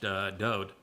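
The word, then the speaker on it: דוד: It means beloved, and his name is pronounced Dode. And there is no V in Hebrew, and there's no source of the id in the name until centuries after Dode's life.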